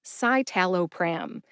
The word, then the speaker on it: citalopram: don't do this much pretty much everyone says satala pram in the United States so what's wrong with the pronunciation in the dictionary you're probably wondering the USP dictionary says that satal is actually pronounced saalo pram saalo pram even though